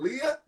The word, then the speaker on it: Liyah: Right now, we're on the line with my homegirl, Liyah.